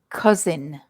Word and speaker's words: cousin: the next one cousin cousin and cousin has the same vowel sound as uncle uncle so look at my